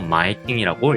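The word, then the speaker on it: 前金: 한국에서는 앞선자를 써가지고 선금이라고 하지만은 일본에서는 앞전자를 써서 전금이라고 적고 마에킹이라고 읽습니다.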